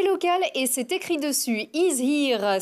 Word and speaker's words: Is Here: et c'est écrit dessus is here c'est de l'anglais mais ça se prononce à la française pour désigner le 100%